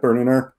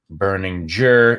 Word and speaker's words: Berninger: Do people try to throw a hard G in your name all the time? They do. I mean, it's even family members often have. It's often been debated how my last name is pronounced. Berninger is.